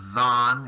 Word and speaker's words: Zayin: And the way they pronounced the letter back then was Zan, and it became Zayin today.